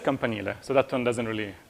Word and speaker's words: campanile: It's maybe one way to really mispronounce it, you could say campanile or whatever, or like camp on the Nile or whatever. I don't know. It's just campanile, so that one doesn't